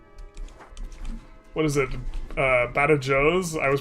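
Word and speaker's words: Badajoz: Badajos? I was pronouncing Bajos.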